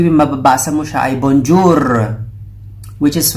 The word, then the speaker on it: bonjour: So, ang correct pronunciation niya ay bonjour, bonjour. Yung R po niya ay medyo konti lang yung sound na lumalabas.